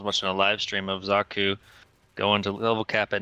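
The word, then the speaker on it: Xaku: Oh, Zaku. Zaku. Thank you. Pronounce the X as a Z and done. Zaku.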